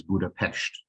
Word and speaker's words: Budapest: for the city is Budapest and that's because in Hungarian the the letter s is pronounced as our sh um but you will